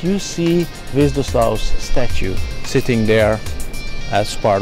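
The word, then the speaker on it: Hviezdoslav: We're now in Hvězdoslav Square. How is my pronunciation? Your pronunciation is fine.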